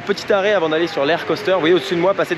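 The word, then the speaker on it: Lech Coaster: russe en question s'appelle l'air coaster alors ça c'est la prononciation polonaise on va dire approximative en français ça s'appelle lèche coaster le c.h poster bon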